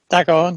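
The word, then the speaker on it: D'Agorne: I'm not going to pronounce this right. Sorry. Dagoin? Yes, Dagoin.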